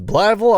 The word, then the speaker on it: Blytheville: This is Blytheville, Arkansas.